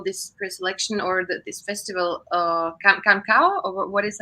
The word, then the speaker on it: Canção: I didn't follow this pre-selection or this festival, Cancao, or what is, how to pronounce Canção, it? Cansao.